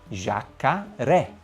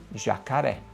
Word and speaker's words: jacaré: Ele te indica que aquela sílaba é a sílaba forte. Portanto, se você se deparar com a seguinte palavra, você sabe que a única pronúncia possível é jacaré. Jacaré.